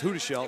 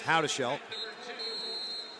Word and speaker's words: Houdashelt: so here we are i always thought it was huda shell but it's how to shell back to the beginning